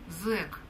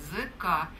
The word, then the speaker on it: зэка: Например, Семен Самуилович очень ругался на слово «зэк», «зэки» в мужском роде и со склонением, объясняя, что правильно говорить «зэка», через черточку или через «д», через слэш.